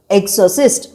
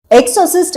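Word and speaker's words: Exorcist: 1973ல release ஆன தி எக்ஸிஸ் உங்களுக்காக இன்னொரு தடவை உச்சரிக்கிறேன் எக்ஸோசிஸ்ட் எக்ஸோசிஸ்ட் அப்படின்னா இறை பிரார்த்தனை மூலமாவோ இல்ல மாந்திரீகம் மூலமாவோ பேய்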